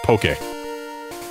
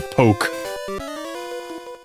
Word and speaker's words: Poké: Because in Japanese uh they don't need the accent for it to be pronounced Poké. But in English we do because otherwise it would just be poke.